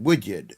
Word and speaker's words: Woodard: How do you How do you say that? Woodyard.